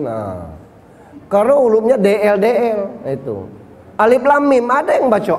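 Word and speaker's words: الم: Ah, karena hurufnya dldl itu alif lam mim ada yang baca alama.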